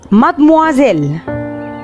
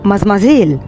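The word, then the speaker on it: mademoiselle: مادموازيل، تاني مادموازيل، مادموازيل، يبقى بونجور مادموازيل. يبقى محدش يجي يقولي من هنا ورايح مازمازيل. مازمازيل دي بنقولها في اللغة العامية المصرية عندنا، لكن هي كلمة فرنسي، كلمة نطقها مات.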